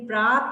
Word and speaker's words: प्रातः: और इसकी आवाज, इसकी ध्वनि या इसका स्वर या इसका उच्चारण किस रूप में होता है, ह के रूप में। ह की साउंड आती है। देखो जैसे ये प्रात है ना, प्रात, लेकिन ये बिंदियां लगा दी तो क्या बन गया, प्रातः।